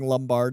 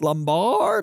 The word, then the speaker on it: Lombard: We interviewed him and it was so funny cuz like we were pronouncing Lumbard and I was like I think it's Lombard like we were we